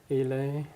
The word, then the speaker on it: Aelin: Hélène, Hélène qui s'écrit avec un A-E, donc pour ça le A, oui. ça fait Hélène.